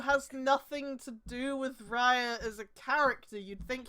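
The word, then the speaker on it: Raia: Raya. Yes, Raya. Like Gaia.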